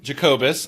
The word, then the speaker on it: Jacobus: I am so honored to be joined for our 200th episode by the man, the myth, the legend himself, Tim Jacobus.